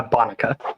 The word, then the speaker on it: Bonica: Uh Bonica. Bonuka.